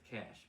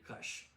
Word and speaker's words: Kash: This guy, Kash Patel, by the way, the Indian community does not pronounce it as Cash. We say Kush.